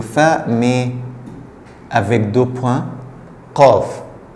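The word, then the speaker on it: قاف: Qaf. Qaf, c'est pas K, mais qaf. Qaf. La gorge est un peu ouverte.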